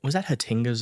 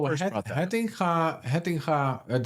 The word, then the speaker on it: Hettinga: So was that Hatinga's idea? Because I think earlier on. No, Hettinga, that's how I pronounce it because Hettinga. It's a Dutch name.